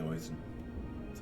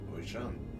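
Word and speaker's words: Oisín: and they called me Oisin. Well, no, it's Sean. Like, Sean is how you pronounce Sean, and then just O in front of it. So, Ocean.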